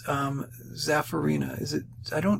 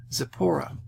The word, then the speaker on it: Zipporah: Okay, hopefully I can pronounce it correctly. That's Zapharina. Do I even give her name? Yeah, Zipporah. sorry about that, Zipporah.